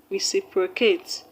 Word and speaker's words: reciprocate: The word reciprocate reciprocate has its stress on the third syllable from the end of the word, because the word has